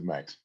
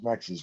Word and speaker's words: Max: Ida and Max I I should try and pronounce that in the German Way MOX daa but I think I'll stick to Max was a professor of